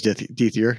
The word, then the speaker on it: Dethier: It's Dethier.